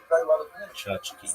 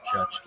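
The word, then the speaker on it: tchotchke: Chachki. Chachki pronounced chachki or chachki.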